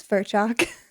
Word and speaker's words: Ferlchalk: I can't pronounce that. It's Ferlchalk.